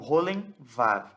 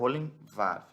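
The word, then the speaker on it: וֹ: Eu sei que o Vav ele é uma consoante, mas quando o Vav tem um pontinho em cima dele, ele se torna a vogal O.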